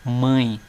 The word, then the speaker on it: mãe: tirar aqui se eu tirar o acento da palavra mãe fica mai veja como o som do a ele se torna um som oral ou seja o som sai pela boca mai agora quando nós colocamos o tio o som do a sai pelo nariz mãe viram olha aqui ó